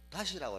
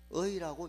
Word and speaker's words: 의: 그렇지만 시험 문제는 다시라고 읽는다 하면 틀린 지문입니다. 의라고 읽는다. 의.